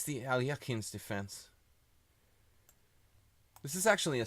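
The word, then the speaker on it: Alekhine: It's the Alyakin's defense. This is actually a sideline. Knight b6 is mostly recommended in Alyakin's books. Alyakin, if you want to pronounce it correctly.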